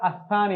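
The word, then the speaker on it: الثاني: এভাবে লিখেছি আল সানি কিন্তু উচ্চারণ করার সময় আমরা আসানি বলবো লামটা উচ্চারণ হবে না এখানে হরুফ শামসিয়া হরুফ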